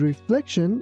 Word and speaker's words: reflection: The man stared at his reflection in the mirror. Here be careful that letter C sounds like ch, and also T-I-O-N sounds like shin. That's why we say reflection, reflection.